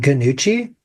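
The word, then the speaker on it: Gnucci: So something important though, right at the forefront, you pronounce it Ganucci. I assumed it was a silent G.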